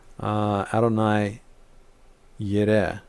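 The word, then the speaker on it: יהוה יראה: Adonai Yireh is how it's pronounced usually.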